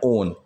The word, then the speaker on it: own: बात चल रही है, फिर OWN ओन, ठीक है। ऑन और ओन इन दोनों की प्रोनाउंसिएशन पे भी आप ध्यान दे लीजिएगा। मैं बोलूँ कि मैंने अपने